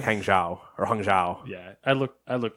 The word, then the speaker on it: Hangzhou: Hangzhou is how you say it.